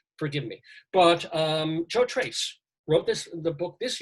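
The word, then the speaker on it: Tracz: last one for now Joe Trace that's how he pronounces the name it doesn't look like that but Joe Trace wrote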